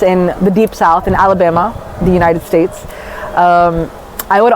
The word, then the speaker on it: Alabama: We called it Alabama, but okay, this is the actual pronunciation, Alabama.